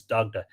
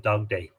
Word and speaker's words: Dagda: He spells Dagda D-A-G-D-A-E here. Sometimes there's an E added to the end. I'll just pronounce it Dagda rather than Dagday.